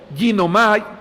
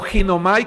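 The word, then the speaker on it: γίνομαι: Hermanos, la palabra estar es una palabra griega, es un verbo, ginomai, o ginomai como se escribe, que significa llegar a ser.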